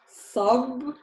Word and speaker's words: صب: صب, سب. So the difference is in the a, the fatha. Both have a fatha. Here I say the fatha as a. Here I say the fatha as a. صب سب.